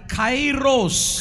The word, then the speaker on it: Kairos: That word is called kairos. కైరోస్ అంటారు, ఆ మాట పేరు కైరోస్ అంటారు. It is spelled K-A-I-R-O-S.